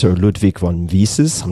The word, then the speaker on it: Mises: so you can correct me but Ludwig von Mises or Ludvig von Vises I'm not sure Ludig van Mises there we go yeah the human action